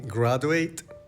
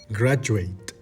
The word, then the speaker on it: graduate: Cada vez que veas una U al lado de una D en una vocal que no está acentuada, vas a decir Y. Y. Education. Education. Graduate.